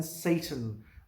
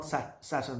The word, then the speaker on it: Satan: तो सैटर्न SATURN जो ये प्लैनेट है, तो सैटन के साथ आपने कंफ्यूज नहीं करना है. उसकी pronunciation SATAN, सैटन. इट्स नॉट सैटर्न.